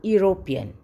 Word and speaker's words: European: a consonant sound u another example a european we see a e but we hear a consonant sound u next we use an